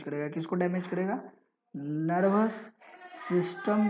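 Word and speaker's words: tsetse: इसे सीसी फ्लाई बोलते हैं, टस टस फ्लाई नहीं बोलेंगे, इट इज सी fly. Clear है? T will be silent, it is known as what, CC फ्लाई।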